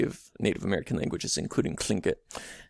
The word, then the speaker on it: Tlingit: native american languages including klingkit so you have an aspirated l there and then you have a t at the beginning that's sort of operating